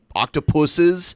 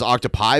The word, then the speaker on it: octopuses: jellies, and I've seen octopuses. Did you know it said the correct way to say it is? When I was younger, I thought it was octopi, but it actually is octopuses.